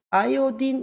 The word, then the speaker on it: 아이오딘: 같은 경우도 이름이 바뀐 것이 이게 조금 어색하죠 아이오딘 이렇게 합니다 요드의 영어 발음이 아어요 아 영어 발음이 아이오딘이 그든 예